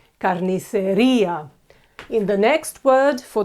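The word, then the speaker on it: carnicería: The Butchers is say Carniceria okay you see this e with the tilde is pronounced very clearly Carniceria in the next word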